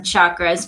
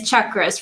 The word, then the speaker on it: chakras: what the chakras are, people do pronounce them chakras, but it is chakras, for originally a Sanskrit word, but you just succinctly put how it works.